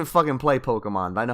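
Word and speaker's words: Pokémon: play video games when they pronounce it pokeyman that that's the kind of I don't even play pokemon I know how to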